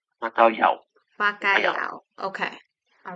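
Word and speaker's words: bacalhau: you a little Portuguese Le here is it's pronounced bakay bakay bakay bakay okay all right yeah so what's it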